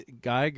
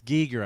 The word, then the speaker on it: Giger: Like they gigger or it's giger actually is the way I think he pronounces his uh name.